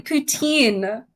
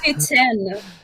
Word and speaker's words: poutine: Pitin. What? You do not say poutine. It's pitin.